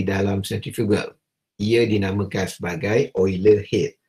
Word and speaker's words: Euler: Ia dinamakan sebagai Euler head. Walaupun ejaan dia adalah EULER, diharapkan pelajar boleh membunyikan tersebut, perkataan tersebut adalah sebagai Euler head.